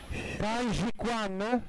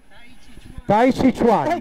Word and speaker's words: Tai Chi Chuan: Chiedo scusa in anticipo per la pronuncia. Sì, perché tu hai riso prima, io adesso. Adesso ride Monica. Taiji Quan. Sì, va bene. Come si dice? Taiji? Tai Chi Chuan.